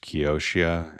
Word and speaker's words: Kioxia: That's followed by a company that I think is pronounced Kioxia at 15%.